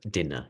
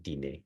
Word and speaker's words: dîner: Dinner, she says instead of dîner.